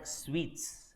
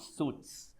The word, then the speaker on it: suite: It's called suites, not suits. Suit is your coat suit. Suite is a type of room. Suite as in how you say this laddu sweet. Just like that, the pronunciation is one and the same.